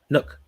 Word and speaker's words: Nuk: to kill my vibe now how do you pronounce the nuk name is it no Nook Nook Nook and now Nook is DeAndre Hopkins yes